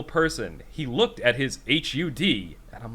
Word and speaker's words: HUD: heads-up display yeah exactly and how would you pronounce that as an acronym a hud exactly i like it i was listening i'm